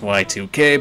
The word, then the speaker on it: YIIK: and yes I'm will we pronounced y 2K but Yik sounds better for how I want